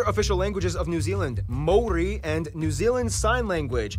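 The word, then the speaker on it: Māori: Korea and Japan yes by the way it's pronounced Mori not mayori Mai they use the New Zealand dollar as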